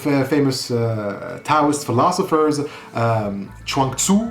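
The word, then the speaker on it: Zhuangzi: uh to philosophers um chanku I think that's how it is pronounced writes that after one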